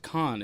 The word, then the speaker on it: Cannes: It is actually pronounced Cannes. It's spelled like cans with 2 N's and an E in there, but it's French.